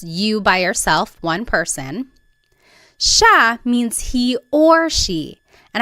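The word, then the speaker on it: siya: It looks like it should be pronounced sa, but it's actually pronounced sha sha. There are some regions in the Philippines that might pronounce it sia but for the most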